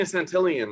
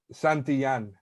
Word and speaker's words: Santillan: Hey, so I'm saying Santillian wrong. How do you Santillan? How the fuck do you say your last name? I've never said it right. Say Roa. You know that's my name. I'm gonna restart everything, dude. But how the fuck do you say your last name? Santillan. Santillan? Yeah.